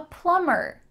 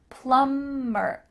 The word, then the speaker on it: plumber: I'm a plumber. Make sure that the B is silent. Plumber.